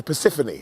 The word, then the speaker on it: Persephone: Persephone, there we go. Of course, I know. People get mad. You got the name wrong.